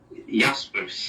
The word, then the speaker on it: Jaspers: Jan, is it Jaspers or Jaspers? Jaspers. Jaspers. That's the pronunciation, yeah.